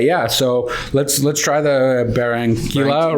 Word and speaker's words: Barranquilla: It's called the barranquilla. Barranquilla. It is Quila or barranquilla. Quila? I think in Spanish 2 L's is yeah. Oh, it's a silent.